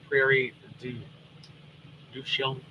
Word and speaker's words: Prairie du Chien: Connie said, if I go up the hill by my house, Pikes Peak, I can see the Prairie du Chien.